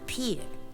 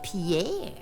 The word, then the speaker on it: Pierre: that's Pier of course not many people know it's pronounced Pier they think it's Pierre but if I were